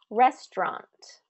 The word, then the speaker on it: restaurant: Another example, restaurant, restaurant. It's not restaurant, restaurant, restaurant, restaurant. First syllable stress on that.